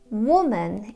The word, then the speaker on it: woman: Woman is singular and the vowel sounds are woman, woman.